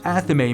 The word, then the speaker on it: athame: Some say Athame and some will say Athame, and I've even heard others say Atham or Athame. I call it an Athame.